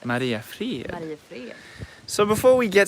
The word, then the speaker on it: Mariefred: How would you pronounce it? Mariefred. Mariefred.